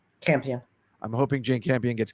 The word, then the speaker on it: Campion: I'm hoping, as you know, Jane, how do you pronounce her name? Campion.